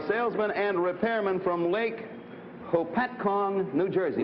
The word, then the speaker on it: Hopatcong: Frank Smith, a salesman and repairman from Lake Hopatcong, New Jersey.